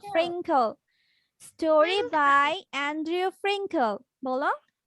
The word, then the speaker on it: Frinkle: Clay. খেল খেল clay হবে না খেল এটার উচ্চারণটা হবে খেল ফ্রিঙ্কল স্টোরি বাই অ্যান্ড্রিউ ফ্রিঙ্কল বলো Story by Andrew Frinkle.